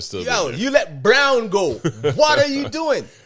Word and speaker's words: Braun: Braun is playing well now. Christian, I call him Braun, that. but they say Brown. It's spelled Braun.